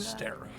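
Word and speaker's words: Sterra: Stera. Mhm. Terra with an S.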